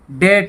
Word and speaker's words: debt: आगे देखिए CLIMB, DEBT, और इसको बोलते हैं डेट। यहाँ भी बी साइलेंट है।